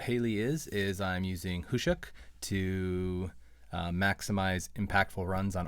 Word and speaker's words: Khusyuk: to use who shucks I thought it was koushik at first but it's pronounced who shook and this card is a the ability is